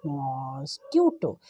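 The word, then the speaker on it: mosquito: मच्छर को क्या कहते हैं, ऊंचा सा बोलें, शाबाश, मॉस्क्यूटो। स्पेलिंग लिखिए, MOS मॉस, QUITO इटो, मॉस्क्यूटो। तो इसकी ओरिजिनल प्रोनाउंसिएशन, सही बोलने का तरीका है मॉस्क्यूटो, मॉस्क्यूटो, मच्छर।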